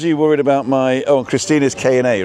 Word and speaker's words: Christine: So, Christina is spelled like Christine in English. C H R I S T I N E. But the Germans pronounce the E on the end.